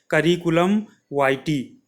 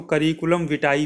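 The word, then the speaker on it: curriculum vitae: सीवी का full form होता है करिकुलम वाइटी। क्या होता है सीवी का? सी फॉर करिकुलम और वी फॉर वाइटी। कई बार सीवी को जो फुल फॉर्म प्रोनाउंसिएशन करते हैं तो करिकुलम विटाई भी करते हैं कुछ जगहों पर। तो दोनों एक ही है, उसमें आपको परेशान नहीं होना है।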